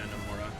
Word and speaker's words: Nomura: But to me, what's worrisome, I guess you can say, is Nomura. Is that how you pronounce his name? Yeah, Tetsuya Nomura.